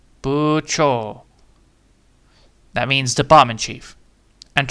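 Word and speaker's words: 部長: So, it's K and B but it's not bu, it's not, it's buo.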